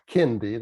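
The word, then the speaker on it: Kendi: evidently boston university's professor ibram x kindy that's spelled k-e-n-d-i is the leading anti-racism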